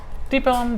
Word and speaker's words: Deep Ellum: How do you pronounce that? Deep Ellum.